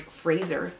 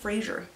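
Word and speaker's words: Frazer: bough by james george fraser not frasier it's spelled like fraser and it's very weird which is for research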